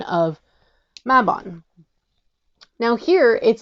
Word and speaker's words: Mabon: tick tock during mabon and stated that it's pronounced mabon and not maben so I wanted to know is this a